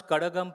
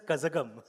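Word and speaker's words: Kazhagam: Yeah I'm I'm I'm one of the few North Indians who can pronounce Karagam properly. I think most north Indians pronounced it as Kazakam.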